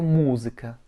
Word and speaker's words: музыка: Et pour écrire musica, M, O, Z, I, K, A, avec un accent tonique sur le U. Это музыка.